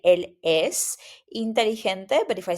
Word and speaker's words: inteligente: When you have a G, mostly the pronunciation is like an H in English. Inteligente, inteligente, right?